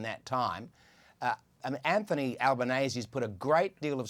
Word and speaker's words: Anthony Albanese: It's something I find it No, no, his name His His name is pronounced Anthony Albanese.